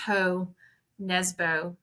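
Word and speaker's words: Jo Nesbø: It's J.O., and I think it's pronounced Ho Nesbo.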